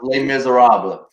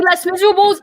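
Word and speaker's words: Les Misérables: Just to clarify, it is pronounced Les Miserables. Yes. Correct. If you say Les Miserables, I will kick you out of this stream immediately.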